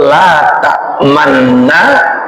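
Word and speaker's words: لا تأمنا: Kalau kita ucap la ta'manna, maka tidak mendapatkan kesempurnaan ismam. Maka harus diucapkan dengan la ta'manna. Lihat coba, la ta'manna, tetapi diucapkannya dengan bunyi la ta'manna. Ada monyongnya, harus monyong, harus manyun.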